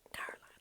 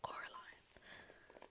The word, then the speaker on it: Coraline: It's really funny in the film when, and in the book as well, when the two ladies downstairs keep calling Coraline Caroline. It's like, I'm not Caroline, I'm Coraline.